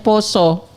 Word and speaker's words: pasa: Adanya bulan tulisannya pasa tapi dibacanya poso.